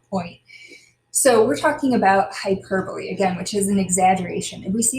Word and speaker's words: hyperbole: is called hyperbole it kind of looks like hyperbole but that's not the way we pronounce it it's hyperbole and it's an exaggeration to make a point